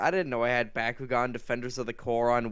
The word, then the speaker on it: Bakugan: games that very much you did not just call it battle gone that's what everyone calls it over here it's how the accent pronounces it no it's Bakugan what the hell everybody